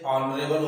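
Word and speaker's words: honourable: इसी टाइप से जैसे ऑनरेबल होता है, ऑनरेबल, तो उसके पहले भी क्या लिखेंगे, ऑनरेबल। यानी कि हमको प्रोनाउंसिएशन पर जोर देना होता है कि ये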